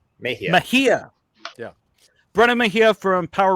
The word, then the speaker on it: Mejia: Mejia. Mejia.